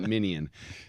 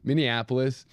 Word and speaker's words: Minneapolis: Okay. Not minion. Minneapolis.